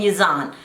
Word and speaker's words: Yazan: I'll meet you guys in the comment section after I make a second video about Brittany and Yazan.